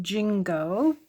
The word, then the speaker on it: Gingo: But this one is called, I think it's pronounced Gingo, but it's a take on the Ginkgo biloba plant.